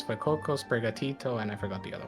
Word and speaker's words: Sprigatito: Sprigatito.